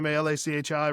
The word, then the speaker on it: Malachi: And then like, yeah, on Facebook, you can find me at Malachi Carter, Malachi, rhymes with apple pie Carter.